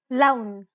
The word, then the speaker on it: لون: لون. أهلا. Unlike the English L, the tongue is ever so slightly flatter and straighter in Arabic.